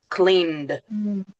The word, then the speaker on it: cleaned: So in this case, clean is pronounced cleaned. Cleaned. So like n and d together.